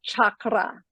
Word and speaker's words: chakra: is it chakra or is it chakra I personally prefer chakra and rolling the r but I don't do that very often because it's difficult for my American tongue but I like to